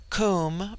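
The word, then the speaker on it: Koom: immortal Spirit viya immortality Kum pronounced like the Welsh Kum denotes something of holess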